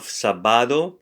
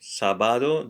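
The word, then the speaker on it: sábado: so here we have sabado sabado the accent is on the a so sabado um I'm sorry I'm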